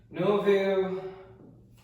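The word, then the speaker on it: Nouveaux: Novu with an X that is silent because that's just what it is.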